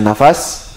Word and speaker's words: nafas: dan terbuka setiap hal itu ketika terputusnya berarti bacanya bukan nafs tapi ketika terputusnya nafas dan sebelumnya kuburil dan menyala.